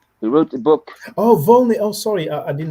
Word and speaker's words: Volney: stuff her right because it's necessary i'm um vani he wrote the book oh volney oh sorry i did not understand the way pronouncing yes yes he has a very famous